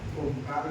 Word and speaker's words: ओम: स्वस्थता को अनुभूत करें ओमकार उच्चारित करेंगे और पश्चात आंखें खोलेंगे तो ओकार समय ओ होगा और तू थ समय म होगा ऐसे ओकार उच्चारण करेंगे